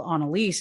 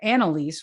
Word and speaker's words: Annalise: So now I insist on being called Annalise instead of Annalise, which is what I grew up in Santa Barbara, pronouncing my name like everyone else around us.